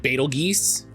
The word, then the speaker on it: Betelgeuse: I think it's generally based on like the language of the person speaking it. Because I've definitely heard it pronounced like Betelgeuse.